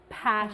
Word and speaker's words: passionate: Ví dụ với với từ có nhiều âm tiết như passionate, chúng ta có trọng âm vào âm đầu.